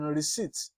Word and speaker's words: receipt: is silent as in receipt receipt p is silent there you don't pronounce the P you don't say receipt